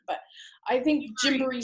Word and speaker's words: Gymboree: That's basically how it's pronounced, unless you're saying it the way my husband wants me to say it, which is Jimbere, which is the African version. But I think Gymboree sounds more like a